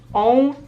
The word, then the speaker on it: ę: This one is more similar to the letter E than on is to A, because it's on. And here I can again make an example of two different words. There's lek, which means medicine, and there's lęk, that means fear. I feel like the on and on sounds are kind of French sounds, and they're very nasal, so you kind of